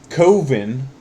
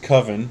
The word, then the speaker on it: Coven: They talk a lot about this movie, and I'm very excited to finally be the proud owner of Coven, or as it should be pronounced, Coven.